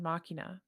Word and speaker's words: Machina: what is soul playing he's playing Machina machina I think it's either or I think that's what people love couldn't come up with machines how it's pronounced in Final Fantasy 10.